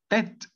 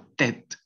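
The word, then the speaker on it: tête: Sí, entonces esta e la van a suprimir. Sí, ya sería tet o tet en vez de tt o alguna otra palabra. Listo, entonces sería tet, tet.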